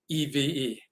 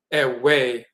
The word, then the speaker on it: Ewe: And you'll even see Eve, E-V-E. Eve is the people. Some pronounce it Eve with a V. Some pronounce it Ewe with a W.